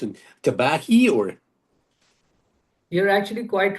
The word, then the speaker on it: Tabahi: How do you pronounce it? Tabahi or? You're actually quite right in pronouncing our band name, which is actually called Tabahi.